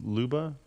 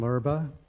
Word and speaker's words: Lurba: First person on the speakers list, Luba, please come forward. Did I pronounce that correctly? Phonetically correct. My name is Lurba, and I live next to West Creek Farms on 88th Avenue.